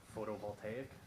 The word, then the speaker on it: photovoltaic: Photovoltaic.